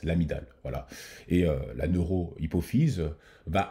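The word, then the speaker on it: amygdale: l'amidale du cerveau hein même si on le on l'écrit l'amydale mais ça se prononce l'amidale voilà et la neurohypophyse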